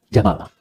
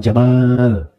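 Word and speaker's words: جمل: namanya Jamal saya no ya pendek bacanya Jamal bukan Jamal jamalun unta Jamal ganteng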